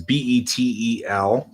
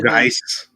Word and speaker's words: Betelgeuse: Beetlejuice is always spelled so weird because it's Betelgeuse, which is always so weird.